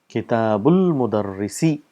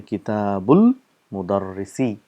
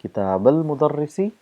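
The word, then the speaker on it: كتابُ المدرسِ: And how do we say Kitabul Mudarrisi? This is Hamzatul Wasl, so we don't pronounce the sound because there's a word coming in front of it. So we say Kitabul Mudarrisi.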